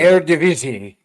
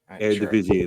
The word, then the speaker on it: Eredivisie: Is that how you would pronounce that, right? I don't really watch the Dutch Super League. So. Eredivisie. Eredivisie.